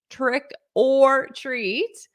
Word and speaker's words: trick or treat: trick or treat so it sounds like one word because this or is pronounced as an R but it's connected tricker so if you had